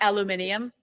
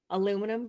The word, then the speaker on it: aluminium: the hell I'm like aluminium that's my aluminum garage no aluminium for the English people oh the English do no Americans say aluminum but I like aluminium that makes it sound